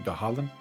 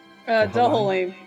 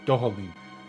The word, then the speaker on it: Dohalim: Dahalim? Dohalim. Dohalim.